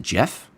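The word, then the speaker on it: Geoff: Anyways, it's uh it's spelled Geo FF Hartle, and I believe you pronounce it Jeff.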